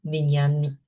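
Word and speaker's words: vijñāna: One needs to know nama rupa, chitta, cetasika, and rupa, 5 aggregates, rupa, vedana, sanya, sankhara, vijnana. Vijnana. Vijnana. Vijnana. This one you have to pronounce nya.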